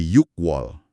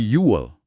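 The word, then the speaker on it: 유월: Bulan Juni kan harusnya dari angka 6 yuk jadi yuk wall tapi pengucapannya jadi yuwall. Oh bukan yukwall tapi yel. Betul. Huruf K di akhir kata yuk dihilangkan biar lebih mudah diucapkan.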